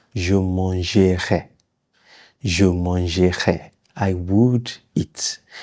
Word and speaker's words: je mangerai: You don't really pronounce it when you're speaking fast.